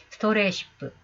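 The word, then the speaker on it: 迷羊: 이건 마이고라고 읽어야 됩니다만 사실은 그 위에 루비가 달려있어요. 후리가나가 어떻게 달려있냐 하면은 스토레시프라고 하는 영어로 달려있습니다. 스토레시프.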